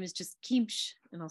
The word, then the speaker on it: qimš: And its name is just kimsh, and I'll spell it.